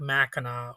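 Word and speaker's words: Mackinac: I know it's spelled M A C K I N A C, but you pronounce it like Mina, or at least that's how I've only ever heard it pronounced. But the Machina Bridge is one of the longest suspension bridges in the world.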